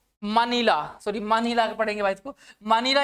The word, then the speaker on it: मनीला: और मनीला मनीला sorry मनीला पढ़ेंगे इसको मनीला य की कैपिटल है और करेंसी क्या है बच्चे पैस कई बार इसको कई बार बच्चे मनाली प्रोनाउंस कर देते भाई यह मनाली नहीं है चलते अगले क्वेन की